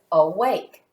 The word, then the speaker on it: awake: end of this word a consonant the letter K e this is going to make a long a sound this word is awake the second syllable is wake and it has a silent e at the end the next word that